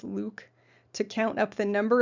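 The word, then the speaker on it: LIWC: inquiry and word count the abbreviation is pronounced luke to count up the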